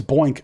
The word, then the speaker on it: Boink: sorry boy n k so what's that point oh it's boink oh my god his name is boink i love him is